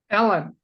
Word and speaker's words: Eilen: nope well that's so interesting how do you pronounce that first name Ellen Ellen okay because it's e l n is